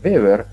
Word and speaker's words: Weber: Y Weber, la W en alemán se pronuncia como V corta, Weber, en 1835 es el